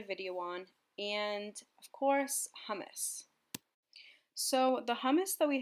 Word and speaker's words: hummus: story for me I was obsessed it's actually pronounced hummus with that little rapine s in your voice